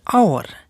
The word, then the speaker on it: hour: silent h listen carefully before words beginning with silent h for example an hour an honorable man an